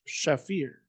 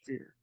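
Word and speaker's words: Shapher: and pitch in Mount shaffir yeah I believe that's pronounced fear they removed from Mount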